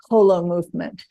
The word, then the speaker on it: Holomovement: inherent in the name Hol movement so I want everybody to remember it that way pronounce it correctly and you say whole Hol movement H movement as in whole and indeed you're absolutely